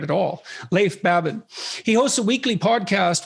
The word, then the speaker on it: Leif Babin: the dichotomy of leadership with fellow retired seal Leaf Babin did I pronounce that right it's actually Lea Babin oh so I didn't pronounce it right at all Leif Babin he hosts a weekly podcast with Brazilian jiu-jitsu